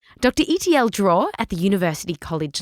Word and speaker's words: Itiel: My name is uh doctor Itiel, and you pronounce Itiel like the letters E T I E L. You know the movie E.T. So, with an L. E.T.L.